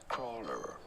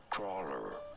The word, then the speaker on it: cruller: Crawler. Crawler. Pretty straightforward once you know.